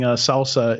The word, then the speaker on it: SLSA: And then for those listening, Salsa is SLSA. Yeah. Yeah. It just sounds like salsa, but it doesn't, not spelled like salsa.